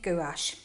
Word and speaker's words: gouache: university but in college my art teacher was always saying that pronouncing as gouache so I'm saying gouache and I just got